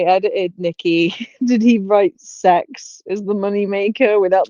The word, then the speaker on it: CEX: said and he said it's pronounced like sex it's a c-e-x i mean yeah but